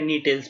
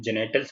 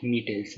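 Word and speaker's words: Gnetales: इसका भी जो जी होता है साइलेंट होता है, याद रखना, कहीं पढ़ो तो इसको जेनेटल्स मत पढ़ना, इसको नीटेल्स पढ़ेंगे हम, ठीक है। नीटेल्स, जी is silent.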